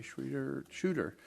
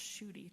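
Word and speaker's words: Schudy: That's pronounced Shudy, just so you know.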